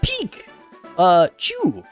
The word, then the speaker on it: Pikachu: Pikachu, pronounced peak uh chew, a little Pokemon monster,